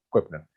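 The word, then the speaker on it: Köbner: Koepner se escribe, ¿no? Con K y kilo. Koepner, ¿no? Pero es Koepner.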